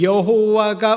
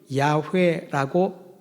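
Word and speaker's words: 야훼: 그런데 그들에게 있어서 여호와가 우리의 하나님이라는 사실을 알고 믿지 않으면은 예배를 드릴 수 없었던 것입니다. 히브리어 내 글자를 음력한 단어가 여호와입니다. 원래 발음 여호와가 아니라 이건 우리의 번역이고요. 야회라고 발음을 합니다.네 글자입니다.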